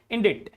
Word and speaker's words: indict: Indirect changes that is subtle changes not subtle subtle B is silent here another word another word is indict here C is silent indict not indict this